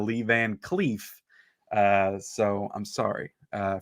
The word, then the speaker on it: Lee Van Cleef: review last night because i pronounced lee van cliff instead of lee van cleef uh so i'm sorry